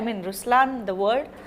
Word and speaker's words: Ruslaan: So even in Ruslaan, when you say Ruslaan also means the lion, it's the attitude of a lion, but the right pronunciation is Ruslaan.